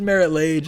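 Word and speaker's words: Marit Lage: saying it so wrong so i think it is merit lage i'm gonna correct that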